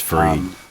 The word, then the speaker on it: Fried: The first one was Gerald Fried, however it's pronounced. Yeah, I think it's Freed. Usually is.